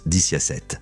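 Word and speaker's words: diciassette: En italien, 17 se prononce diciasette, qui peut être réarrangé pour former le mot vixi, signifiant « j'ai vécu », une phrase associée à la mort.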